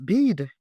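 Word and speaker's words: BIID: Someone asked me about bead. That's a word I've never heard in my life. It is spelled B I I D.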